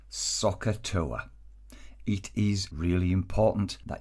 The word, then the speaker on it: SOHCAHTOA: helps us is this word looks a little bit strange we pronounce it soccer toe it is really important